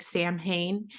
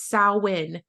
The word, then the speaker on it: Samhain: is by the way it's spelled and sounds like Sam Hayne and Nicole and I have worked meticulously for the years that we have known Rocky to not say sam Hayne it's sawin like CN sin yeah um